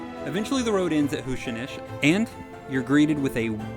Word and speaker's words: Huisinis: It's pronounced Huisinis, in case you're wondering, and I'm just going to go ahead and apologize for butchering it.